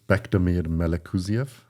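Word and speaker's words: Bektemir Melikuziev: Yes, Bekdamir Melekuziev. I hope I said that correctly. Beautiful pronunciation.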